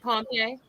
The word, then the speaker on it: Pompe: Neand Pompe? Okay, Y- Pompe yes.